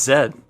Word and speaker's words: Z: dead so is zed zed is also dead yeah no I'm still embarrassed by the fact that I didn't realize that Z is pronounced Zed in the majority of the world until much older in